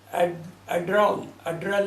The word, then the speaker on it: Adler: और उसके उसी कंपनी की उसी ज़माने की क्या है, एड्रॉल एक गाड़ी होती थी, एड्रॉल, स्पेलिंग ADLER, एड्रल।